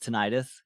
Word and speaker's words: tinnitus: Usually it's pronounced tinnitus. Gotcha. Yeah, it's one of those things where like I probably will I'll probably try and say tinnitus if that's the proper pronunciation, but it's like